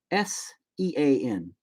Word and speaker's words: Sean: but i'm not bro your name is spelled s-e-a-n but it's pronounced sean bean is spelled b-e-a-n